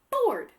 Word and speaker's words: board: Board. Board, like a whiteboard, right? Board. So that the OAR still says or, but it's spelled with an A instead of just OR.